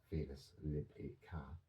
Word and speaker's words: Felis libica: Wild cats, Felis libica, pronounced Felis libica, the African wildcat, began to linger near human settlements, preying on these rodents.